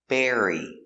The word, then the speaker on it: bury: to bury his bone B air bear bear e berry berry berry like strawberry Berry burying in the